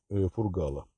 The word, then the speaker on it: Фургал: по делу по делу фургала один из моих подписчиков написал 23 года один из моих подписчиков написал что правильно делать ударение на последний слог фамилии фургал я исправляюсь сразу извиняюсь